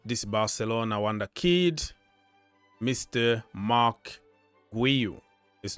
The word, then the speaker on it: Marc Guiu: 18 million Mark gu so this is another Mark guu okay that is the way it's pronounced so it's not g all right so